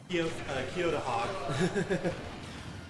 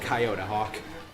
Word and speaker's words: Kyoto Hawk: Saying Let Me Fly is Kyoto Hawk. Eventually I'll say it right. I keep calling him Coyote Hawk. Cromwell with the great recovery back onto stage might cost Coyote Hawk, now I'm saying it,